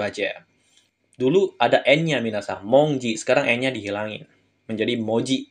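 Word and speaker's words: 文字: sama Mong ya Minasa Nah di sini cara bacanya spesial monongji nah n-nya dihilangin jadinya Moji gitu aja dulu ada n-nya Minasa monongji sekarang n-nya dihilangin menjadi Moji gitu aja oke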